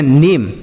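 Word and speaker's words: name: और एम ई है तो यहां पर ए को क्या पढ़ेंगे मा इ को क्या पढ़ेंगे कुछ नहीं आपको यहां पर सोचना ही नहीं है बस जो तरीका आपको बताता हूं वही याद रखना है क्या एम ई रहे तो इसे आपको कुछ नहीं पढ़ना बस एम पढ़ देना है क्या पढ़ना है एम ए एम ई को एम एम जैसे एन से नौ ए एम ई को एम तो यह हो गया नेम एन से नौ ए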